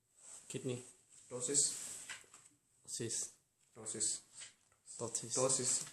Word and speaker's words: ptosis: Ptosis, P usually is silent in English.